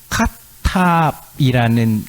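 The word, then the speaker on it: כתב: 아라는 발음인데 여기 카탑이라는 거 읽는데요.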